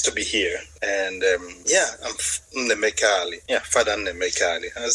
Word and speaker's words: Nnaemeka: Nnaemeka. Oh, you don't pronounce the A?